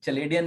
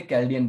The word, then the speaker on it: Chaldean: Numerology जो है, और आप लोग चलेडियन नहीं बोलेंगे, कैल्डियन बोलेंगे। आज के बाद से कोई भी चलेडियन नहीं जी। बोलेगा, कैल्डियन बोलेगा। कैल्डियन इज the right pronunciation, ठीक है।